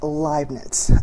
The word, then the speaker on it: Leibniz: calculus along with Isaac Newton and it is pronounced liet the other founder again Isaac Newton interesting there's